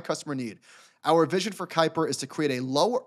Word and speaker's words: Kuiper: they have called I don't know how to pronounce it it's k-u-i-p-e-r Kuiper so uh Andy jassy and the letter